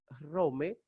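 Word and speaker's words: Ῥώμη: Entonces, Rome, Ro, omega, mi eta es Rome, que es la ciudad de Roma.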